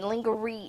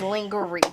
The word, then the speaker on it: lingerie: the first person that taught me that lingerie is not the correct way to say lingerie but that's how we I've been saying it ever since In Living Color and wonder it is lingerie there you go Jamie